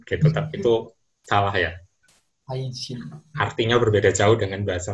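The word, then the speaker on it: 愛人: Kalau di bahasa Jepang cara bacanya aijin.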